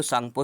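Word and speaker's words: Tsangpo: पे जो है इंडो सांगपो सचर जोन यहां पे टी साइलेंट होता है इसमें टी भी लगा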